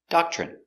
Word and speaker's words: doctrine: are a Doctrine pronunciation Doctrine d d a DA C doc CH doch remember when you have TR together it makes the chicken sound CH so again do do